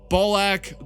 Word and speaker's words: Balak: Malevolent, and their champion, the man whose name literally rhymes with Ballsack. Balak the Vilifier.